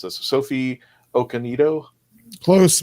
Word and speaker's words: Okonedo: And I hope I don't mispronounce this. Sophie Okonedo. Close. Okonedo, yeah.